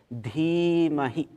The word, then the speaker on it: Dhimahi: Note here that the first I has a line on it, it's long, and the second I is short. Dhimahi.